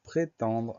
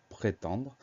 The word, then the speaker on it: prétendre: Le mot suivant, c'est le mot prétendre. Alors, dans la première syllabe, c'est pré, P-R-E accent aigu. La deuxième syllabe, c'est ten, T-E-N. On fait attention au son en qui s'écrit E-N.